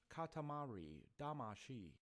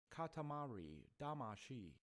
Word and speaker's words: Katamari Damacy: i'm gonna get owned right now how to pronounce katamari damashi katamari damashi i don't agree katamari damashi he's just rubbing